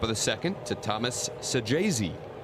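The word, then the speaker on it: Saggese: extends the top of the second to Thomas Sajayzi. I thought you did that nicely there, Dan. Thank you. I I He's got two G's in his name, but pronounced with a J apparently.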